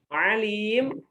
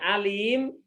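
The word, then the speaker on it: عليم: dan maha mengetahui wuih tapi kalau dibacanya bukan ngalim ya dibacanya Alim maka menjadi pedih artinya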